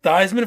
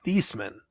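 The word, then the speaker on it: Theismann: South oh yeah yeah thyman for Heisman fun fact his last name is theeman he changed the way they say his name just rhyme for Heisman Heisman oh man that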